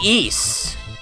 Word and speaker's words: Ys: So yeah, you should play Ys. Play Ys. It's spelled Y-S.